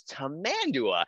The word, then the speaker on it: tamandua: They're sometimes called a lesser anteater, but the fun way to say it is tamandua.